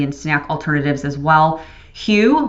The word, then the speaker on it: Hu: snack alternatives as well hugh which is spelled hu great chocolate they have